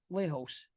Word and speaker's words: Lejos: it was Lehos because they put a Okay. J in there to pronounce it like it was a, Latino type of thing with a J.